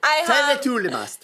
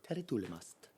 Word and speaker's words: Tere tulemast: Tere tulemast, which is how you say welcome in Estonian. How do you say it?